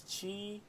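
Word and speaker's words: χ: It's like the letter X, but like it like fell through the line. Look it up. Kingdom Hearts have put an X, and you'll see it. It's like this. It's pronounced Chi, but it was a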